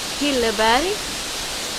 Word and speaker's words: Hilleberg: Hilleberg, Gränsforsbruk.